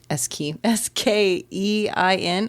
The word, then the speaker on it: skein: writes upon the skein, which is spelled S-K-E-I-N, and I've never said this word before, but apparently it's pronounced skein. Okay. Anyway, of time and space. It looks like skin, but I don't know.